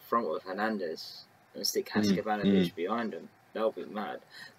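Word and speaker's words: Haksabanović: Haskabanovic, Samuelson, and like Paul Merson.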